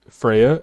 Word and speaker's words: Freya: common people see is freyja f-r-e-y-a or freyja f-r-e-y-j-a pretty much pronounced the same exact way she is not an